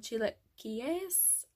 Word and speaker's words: chilaquiles: house called margaritas I got these things called chilaquiles yeah that's how you pronounce it it was to die for you